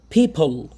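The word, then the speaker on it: people: পিপল, কি উচ্চারণ হবে, পিপল না কিন্তু, ফির উচ্চারণ বললাম না, প আর ফর মাঝখানে হবে, তাহলে উচ্চারণ কি হবে, পিপল।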